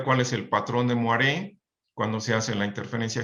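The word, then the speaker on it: moiré: como patrón de muere se escribe se menciona muere en realidad se escribe muere bueno este yo puedo utilizar rejillas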